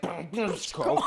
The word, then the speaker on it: Brčko: I know, it looks like Brčko. It's pronounced Brčko. That was a quadruple diphthong.